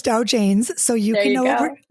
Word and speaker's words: Dow Janes: I said it right, like Dow Jones, but it's Dow Janes.